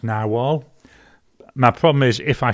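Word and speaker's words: Narwhal: a year ago where they said that it's pronounced narwal my problem is if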